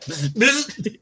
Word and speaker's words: Biz: And of course, I know this guy is Biz. I think that's how you pronounce it. Yeah. Biz.